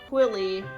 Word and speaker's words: Quilly: This one was named Quilly, which ironically rhymes with Lily, so I guess that makes a lot of sense.